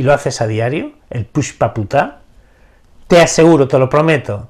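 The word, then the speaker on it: Pushpaputa: piensa que se escribe como se pronuncia pushp se escribe p u s h p a p u t a y se pronuncia Push paputa pushp este el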